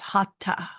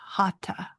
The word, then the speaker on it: Hatha: Now, in America, sometimes you'll hear Hatha, but the teachers that I have had have said that it is pronounced Hatha, Hatha, not no H, H-A-T, Hatha.